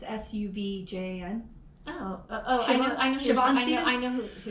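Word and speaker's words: Sufjan: was this artist named Siobhan, I'm going to mispronounce his name, Siobhan Stevens? I think I'm pronouncing his first name right. Siobhan Stevens. It's Suvjan.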